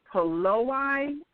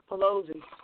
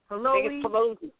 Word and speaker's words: Pelosi: modern European daughter by the name of Nancy Peloi. I might be pronouncing her her accolation wrong or her name wrong. And a college what is it? Pelosi. Pelosi. Pelosi.